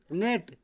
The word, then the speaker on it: gnat: अब ये क्या हुआ, इसमें देख रहे हैं हम नेट, क्या है, नेट। एन से पहले जी साइलेंट, तो जी को हम नहीं पढ़ते हैं, नेट।